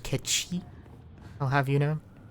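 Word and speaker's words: Cait Sith: Cat Seath. Actually, it's pronounced Ketchi.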